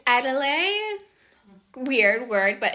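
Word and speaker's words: Edalide: It's Adelaide. weird word, but it's spelled E D A L I D E.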